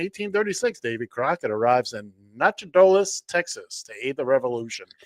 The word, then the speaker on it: Nacogdoches: On this date, in 1836, Davy Crockett arrives in Nacogdoches, Texas, to aid the revolution. I made Okay. Now I have to step in. Now it's Nacogdoches. Nacogdoches.